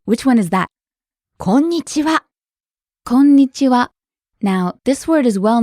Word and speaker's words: こんにちは: Konnichiwa. You hold the n sound for a little bit, don't you?